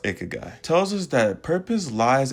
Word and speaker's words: ikigai: The Japanese concept of ikagai or ikagai, also our brand name. Either way you say it is fine, but it's pronounced ikagai tells us that purpose lies at the intersection